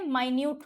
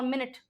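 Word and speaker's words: minute: सूक्ष्म कहते हैं माइन्यूट को, इसकी और मिनट की स्पेलिंग सेम होती है, माइन्यूट और मिनट सेम स्पेलिंग होती है।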